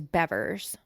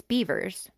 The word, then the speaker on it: Bevers: Missy beavers stop yeah last name is beavers you know what's crazy though is it's spelled bever b vs so I always thought it was bever like when I would read about it but it's it's beavers okay yeah all right